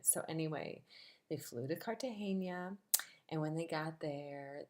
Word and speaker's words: Cartagena: a lot of them very few of them could pronounce the city right they would say Cartagena or Neutrogena it's Cartagena um if I were gonna